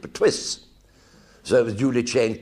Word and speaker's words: Pertwee: They couldn't pronounce it, so the illiterate English pronounced it Pertwee.